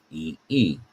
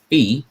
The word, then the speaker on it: phi: But certainly, as I look at that, that sounds like fee. So I would say that maybe the remarkable number phi, which certainly sounds different